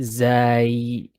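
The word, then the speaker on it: زاي: Some people say Zayn. I don't know where that comes from. I don't know where Zayn comes from. Okay. So you can the correct way to pronounce the letter is zay, but if you Zaay.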